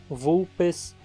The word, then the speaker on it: Vulpes: A letra V é pronunciada como em vaso ou como em lavrar. Vulpes, aves, pulva, vertebrata, arvícola, vrízia.